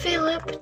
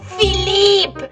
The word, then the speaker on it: Philippe: It is Philippe, not Philip.